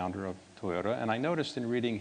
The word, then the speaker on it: Toyota: one of the designers suggested Toyota ending with ta and rather than saying d a pronouncing t a meets the requirement or needs or atmosphere